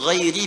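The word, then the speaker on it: غَيْرِ: Qara al-jumhuru ghairi bil jar. Mayoritas ahli qiraat membacanya menggunakan kasrah, ghairi i.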